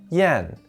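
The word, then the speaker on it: 验: gathered together to test out a horse it's pronounced yen and means test the kind of testing you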